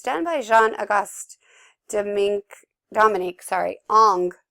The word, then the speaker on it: Ingres: done by Jean-Auguste Dominique, Ong, and I know it's looks like Ingress, but it's you want to pronounce it like it's A-N-G, so that's why I left this one up, and so, yeah, another reclining nude.